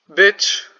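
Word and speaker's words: być: Bitch, not bitch, in English, means to be. So I know it is written, it is pronounced like bitch, but like it's not bitch.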